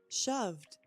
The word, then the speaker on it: shoved: Shoved is a d ending also.